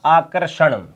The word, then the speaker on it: आकर्षण: आकर्षण क्या बनेगा, आकर्षण, ठीक है। ये शब्द क्या है, इसका उच्चारण करोगे तो यहां आएगा, उच्चारण करके देखो, आकर्षण, आकर्षण, आकर्षण, यहां पर आएगा, बीच में रह का उच्चारण।